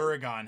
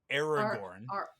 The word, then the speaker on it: Aragorn: Aragon has to do with that progression, but Wait, who did I mean to say? Aragorn.